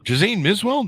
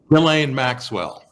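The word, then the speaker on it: Ghislaine Maxwell: stories as varied as the bernie madoff scandal jose miswell am i pronouncing that right relaying maxwell is how you pronounce that oh i've always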